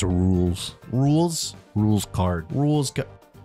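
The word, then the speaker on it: Rouxls: it makes sense yeah like rules as in the rules the rules anyways um what does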